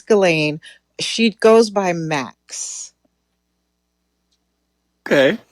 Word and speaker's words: Ghislaine: Well, for one, nobody calls her Ghislaine. It is Ghislaine.